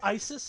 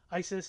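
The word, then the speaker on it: Ysys: but there's there so isis is a is a card in my deck that i was playing isis is y-s-y-s and it's pronounced the same as the other isis but anyway the point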